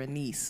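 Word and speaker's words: Annis: Why did you name your main character a niece and all that good stuff? I guess I could talk about the, like, I pronounce it Anis, but oh, okay. There's no right or wrong way.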